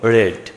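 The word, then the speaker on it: read: পেয়েছিলাম আবার দেখো রিড রিড মানে পড়া এর পাস্ট ফর্ম হলো রেড একই বানান কোন কিছুই যোগ হয়নি তবে উচ্চারণে ভিন্নতা রয়েছে এটার উচ্চারণ হলো রিড এটার উচ্চারণ হলো রেড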